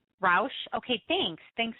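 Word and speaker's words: Roush: beginning immediately these are the 2012 and 2013 ro Ford Mustangs that's pretty big stuff included in the packages are front vasia systems hood scoops rear spoilers and window louvers it's actually it's pronounced Rous Rous okay thanks thanks s oh I know some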